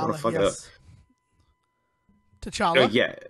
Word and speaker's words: T'Challa: T'Challa? Yeah, T'Challa, yeah.